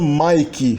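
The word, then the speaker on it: matjie: Uma outra peculiaridade da pronúncia e da ortografia do Afrikaner é que essa terminação je, che, que forma o diminutivo no holandês e no Afrikaner, é pronunciado ki no Afrikaner.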